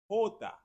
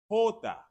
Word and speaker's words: jota: The letter J in Spanish is pronounced Jota. Jota.